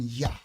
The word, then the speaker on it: Yah: For those of y'all who still call the Most High Yahuwah, he understands your grace. I'm telling you, stop putting the ooah, just call him Yah.